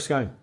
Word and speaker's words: Scone: Stone of Scone. Yes, scone or scoon or scone. What? Anyway. To rhyme? Goon, I thought. Yeah, but to rhyme with stone, I'm going to go with Scone.